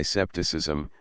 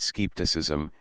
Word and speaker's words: scepticism: Thus we English, a modest race, express our doubt by scepticism, deriving it from sigma kappa psi iota, deliberation. But the Scotch, a hard dogmatic race, pronounce it skepticism, hereby deriving it from